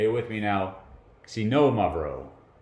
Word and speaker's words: Xinomavro: me now sino Amaro this is tough the accent is on the second syllable it's on the know and the X sounds like a KS really smashed together if you want to say it like a Z that's okay but if you want to say it i represent right put it as at KS c no mud row right so i'm gonna